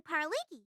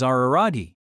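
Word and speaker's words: Araragi: Pariki, don't be mispronouncing my name after the conversation we just had. You're making me seem like the impostor here. I'm sick of your half-ass slips of the tongue. My name is Aari.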